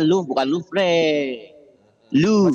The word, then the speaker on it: Louvre: Ini ada Museum Louvre, bacanya Louvre bukan Louvre. Louvre.